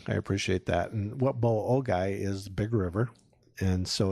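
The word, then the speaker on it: Boa Ogoi: And what Boa-Ogai is, Big River.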